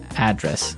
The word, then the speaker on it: address: live yeah and there the stress is on the first syllable address right perfect very good